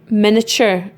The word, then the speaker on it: miniature: And if it helps you, you can pronounce it miniature. But it is pronounced miniature. It's pronounced miniature, but it's spelled miniature, and it's ature. And the T-U-R-E makes that ture sound like you get in picture and adventure.